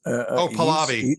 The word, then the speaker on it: Pahlavi: Pahlavi.